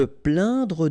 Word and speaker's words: plaindre: Se plaindre de. Remember when you get this A-I-N together here, it will go like un. Plaint. Okay? Plaindre.